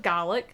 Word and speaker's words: Gallic: interview Rebecca yaros mispronounced she said Gaelic instead of GOC I'm just going maybe